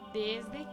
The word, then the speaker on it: desde: Si ustedes perciben, ninguna de estas palabras tiene acento y la E final siempre se cambia a una I en el sonido y no en la escritura.